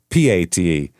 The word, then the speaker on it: Pate: you spell it? Um p a t e Pate. Pate.